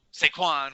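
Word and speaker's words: Saquon: your boy you know sequan which rhymes with stanwan and uh you know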